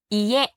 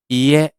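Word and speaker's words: いえ: นี้ บ้าน นะ ครับ บ้าน ออก เสียง อย่าง นี้ ครับ อีเย อีเย อีก ที นึง อีเย อีเย ประมาณ นี้ นะ ครับ นี่ คือ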